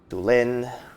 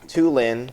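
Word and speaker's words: Tulin: we got our boy du Lin or two Lin but I know I like to prefer the pronunciation of the accent on the I I said I wanted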